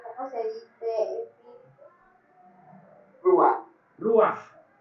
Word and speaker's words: Ruach: Ruach, R-U-A-J, termina en J, por eso es que se pronuncia Ruach.